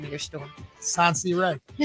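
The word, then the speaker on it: Sonseeahray: Okay, now I want to hear you pronounce the name of your store. Sansi Ray. Sansi Ray.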